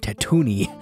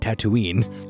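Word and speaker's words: Tatooine: It is tattoo Annie not tattooing?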